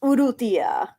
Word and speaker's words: Urrutia: Lucas Urrutia. You probably said it better than me. I'm like, okay, this sounds like Uru and then TIA. That's Tia in Spanish, so I assume Urrutia.